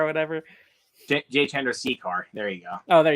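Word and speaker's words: Jay Chandrasekhar: Jay Chandra Jeshkar or whatever. J. Chandrasekhar.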